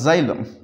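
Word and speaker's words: xylem: सो एक्स को हम pronounce कर रहे हैं विद द साउंड जी।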